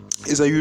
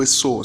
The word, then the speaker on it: Ésaü: Ésaü ou Esau, la prononciation dépend des personnes et dépend des versions.